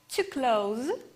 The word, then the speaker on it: close: To close and close. With a red color, I highlighted sounds in transcription which are changed. In the verb, we should pronounce Z sound.